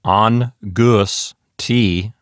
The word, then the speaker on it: angustiae: That particular syllable consists only of a vowel sound, in this case, a diphthong comprised of the vowels A and E. And that sounds like I.